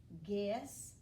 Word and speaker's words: guess: They both have this silent U right here. G-S. You don't even hear the U. G-ide. You don't even hear it.